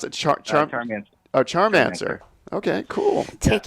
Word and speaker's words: Charmansir: How do you pronounce it? Charmansir.